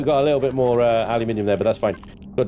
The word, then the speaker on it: aluminium: Aluminium, like uranium, thorium, gallium, magnesium, lithium, beryllium, tellurium,